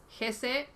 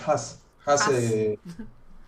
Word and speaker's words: Haase: Gese como Germán Gese se dice. No, Haas Haas. alemán. Tenía esa duda de cómo se pronunciaba. Sí, sí, es un apellido un poco complicado, ¿no? Con una sola A significa liebre en alemán, pero parece una confusión